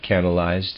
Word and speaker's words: canalized: the emanations readers aside canalized is spelled CA nal ized canalized like canal eyes okay and a reader's